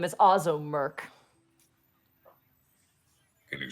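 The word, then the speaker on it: Ozzo Murk: The bartender's name is Ozzo Merk. Can you spell that? Above game? For sure. O-Z-Z-O-M-U-R-K. Ozzo Merk.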